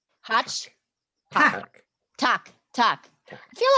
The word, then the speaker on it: tack: Tack. Hotch. Tack. Tack. Tack. I feel like I've heard that. Tack. That feels like a familiar word to me. I don't know why. Tack.